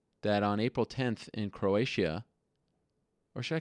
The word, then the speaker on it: Croatia: I call it Croatia I think it's Croatia I think that's how you say not Croatia it's a little too um you can't pronounce the ey that much got to be a little more subtle Croatia uh anyway it's